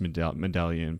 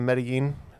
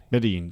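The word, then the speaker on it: Medellín: And I know it's not pronounced medallion, but I know it's spelled almost like medallion. Well, I think you're talking about Medellin? Medellin, yeah.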